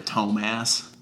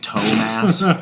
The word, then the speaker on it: Tomas: My 7th grade language arts teacher, her last name was Tomas. We called her Tomas. But like, as in like massive toes, like Tomas. You have lots of toe mass.